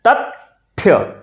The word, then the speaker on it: तथ्य: लिखा होता है तथ्य। तथ्य तो तथ्य नहीं बोलते हैं हम लोग। क्या कहते हैं? तथ थ्य तथ्य। तो तथ्य त के बाद त का उच्चारण करते हैं। फिर थ्य कहते हैं।